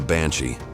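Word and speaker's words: bean sí: To really get the Banshee, we've got to go way back to old Irish stories and meet the beans. That's pronounced banshee, which means woman of the fairy mound or fairy woman.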